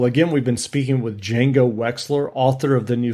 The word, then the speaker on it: Django: The D is silent. D is silent, indeed.